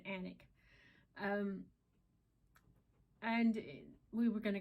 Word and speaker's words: Alnwick: What we were thinking about doing, I was going to take him over to Alnwick, Alnwick is how you spell it, but you pronounce it Alnwick.